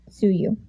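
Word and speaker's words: Tsuyu: her hello tokyo army i just realized that's pronounced suit champ sue you i am sorry hello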